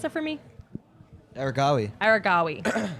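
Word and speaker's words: Aregawi: World lead, meet record, personal best from Arawahi. Can you pronounce that for me? Aragawi. Aragawi.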